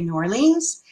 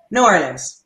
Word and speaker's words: New Orleans: Hello, and yes, you can say New Orleans and you can say New Orleans. It's acceptable both ways. And as a local, how do you pronounce it? New Orleans.